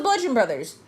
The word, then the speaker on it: Bludgeon Brothers: It's the Bludgeon Brothers. No, it can't be the Bludgeon Brothers. There's no B in Brothers. The B is silent. Yeah.